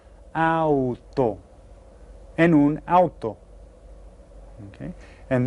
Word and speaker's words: auto: I pronounce all of those letters, auto.